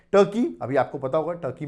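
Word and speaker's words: Türkiye: ए spelling जरूर देखिएगा आप इसको तुर्की प्रोनाउंस करेंगे पहले हम तुर्की प्रोनाउंस कर देते आप तुर्की ये प्रोनाउंस करेंगे और तुर्की में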